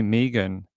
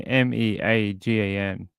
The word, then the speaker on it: Megan: So we say Megan as in Meagan.